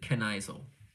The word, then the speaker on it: Knicl: Has anyone mispronounced my name all the time, but you can pronounce it? Canisle.